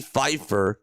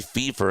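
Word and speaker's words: Pfeffer: Two of the runs were scored when Philly's pitcher Charlie Buffington walked a batter and Chicago's Freddy Feifer, Freddy Fever actually is how you say it, hit a home run.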